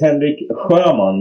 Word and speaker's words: Henrik Sjöman: thank you and yeah and my name is Henrik Herman which I know all the Brits have difficulties to pronounce which is fine no worry about that